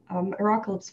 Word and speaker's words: Arocalypse: Well, you mentioned the Arocalypse forums like at the beginning. Actually, how do you pronounce that? Out of curiosity. As the admin. How do you pronounce... Momo: I pronounce it arO-calypse Neir: Okay.